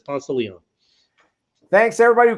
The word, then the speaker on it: Ponce de Leon: It's Albany, and I got Cairo finally, but it's always gonna be Albany, and it's Ponce de Leon apparently in Georgia. It's Ponce de Leon.